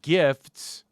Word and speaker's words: GIF: No, not gifts. Not presents. No, GIF, like a GIF. Ethan, you're supposed to pronounce it a GIF.